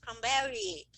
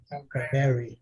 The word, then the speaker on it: cranberry: Então, uma dica, você tentar falar como se essa palavra terminada em Y fosse 2 Is no final, que aí você tem a pronúncia bem próxima da correta. Cranberry. Cranberry, entendeu?